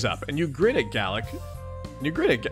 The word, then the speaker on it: Galekh: and you grin it gallock you're great malik and gallic okay it rhymes are they gonna be